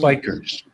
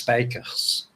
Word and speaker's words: Spijkers: Spikers. It's Spikers. The J is silent. Okay. When you I thought say so, it in a Dutch language, it's spijkers.